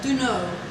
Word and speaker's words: Duna: It's spelled Duna. Like Duno.